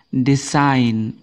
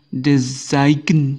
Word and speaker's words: design: ini ini adalah ee huruf G yang tidak dibaca jadi membaca kata ini g-nya tidak boleh dimunculkan eh mungkin membacanya Desen Bukan tapi ini membacanya adalah design design ya design g-nya tidak